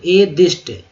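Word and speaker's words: atheist: Fast, नासमझ, foolish, नास्तिक, एथिस्ट, एथिस्ट, निःशुल्क, free, निसहाय, helpless. इसका उच्चारण थोड़ा सा नास्तिक का ध्यान कीजिएगा, देखिए THE द होता है ना, द, तो ए दिष्ट, दिष्ट पढ़ें ज़्यादा शुद्ध हो जाएगा, ए दिष्ट, दिष्ट।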